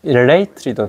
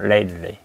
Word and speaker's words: lately: lately도 발음하기 힘들어요. lately. 우리 lately라면 속 시원하겠죠? lately 하면 속 시원하겠지만 그렇게 하면 안 되고 lately. 이렇게 late 해가지고 약간 흠을 탁 터뜨리고 lately.